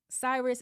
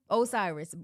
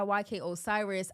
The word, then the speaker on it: Osiris: um so basically she was violated by YK Cyrus is that how you say his name bro Osiris YK Osiris I feel like I talked about him before on my pod so violated by YK Osiris um and she was on the panel and